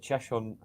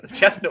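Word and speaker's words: Cheshunt: research because you know i've been waiting for you to present to pronounce it cheshon and i was going to jump over it chestnut was the first one well i've seen i've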